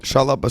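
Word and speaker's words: Shalla-Bal: Uh, Shalaba. Shalaba. So, that is actually saying it right.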